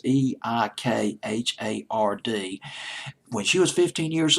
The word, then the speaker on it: Eikhard: This song, Something to Talk About, was written by a woman named Shirley Eichhard. I can't pronounce her last name. It's Eikhard.